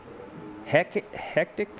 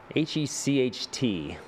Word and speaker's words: Hecht: Yeah, Mark Hectic? No, not Hectic. How would you pronounce that? Hetchit? Hecht. And Courtney. Hecht? Hecht? Probably Okay. Hecht. Yeah, that makes sense. Like a Hector.